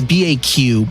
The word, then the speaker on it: BAQ: You can ping back and tell them I said hi. You can. That's BAQ, but it is pronounced like BACK.